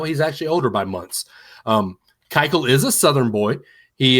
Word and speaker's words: Keuchel: I was totally mispronouncing that. I'm sorry. What'd you call it? I didn't remember. I don't know why. It's Keuchel. Keuchel.